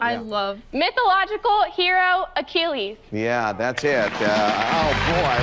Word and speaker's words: Achilles: Mythological hero Achilles. No. You can't accept that. Okay. Because he said it wrong? I'll solve. I yeah. love. Mythological hero Achilles.